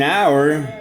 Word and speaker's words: hour: Electricity took an hour to be connected. Notice that despite the letter H, which is a consonant, since it is silent and we say hour, we're gonna work with N because of this sound.